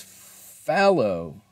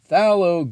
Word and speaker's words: phthalo: see google pronounce uh google pronunciation says fallow interesting so i've been saying it wrong this whole time oh man who's been